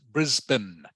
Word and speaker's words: Brisbane: mean this one yes yeah okay it is pronounced Brisbane Brisbane Brisbane yeah Brisbane and Adelaide correct knock